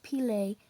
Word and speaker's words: Pelée: it happened in 1902 Mont pelée is the name of the mountain you say it like this P Lake it is it is